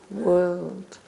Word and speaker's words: world: e or a u world it rhymes with bird actually it's the same er sound this is the most